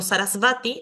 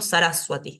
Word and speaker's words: Sarasvati: ejemplo Claro no digo sarasvati sino que digo saraswati esa sería la pronunciación correcta acá tenemos esto ejemplificado la va después de una consonante se pronuncia como u cuando inicia la la